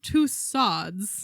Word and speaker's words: Tussauds: I pronounced it Madame Tussauds. Yes. And then was told, "Well, in French it would be Tussaud, which is correct, and I did take French."